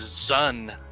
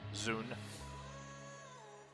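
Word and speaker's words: Dxun: so whatever that is i've always thought of it as zon the d is silent that could very much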